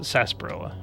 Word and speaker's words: sarsaparilla: home oh and the correct pronunciation is sarsaparilla people just spent a